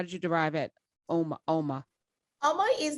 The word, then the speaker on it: Uoma: yes means beautiful it's it's spelled oma i added the you into it um because um beautiful people